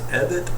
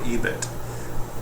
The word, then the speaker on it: EBIT: Now, depending on where you're from, this will be either pronounced EBIT or EBIT.